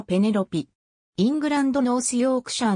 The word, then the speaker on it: Penelope: はイギリスの女優日本ではペネロープと発音されるが実際の発音はペネロピイングランドノースヨークシャーの